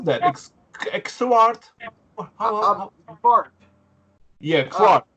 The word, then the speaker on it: Xvart: Xvart. Fart. Yeah, Xvart. Fart, like fart with an X.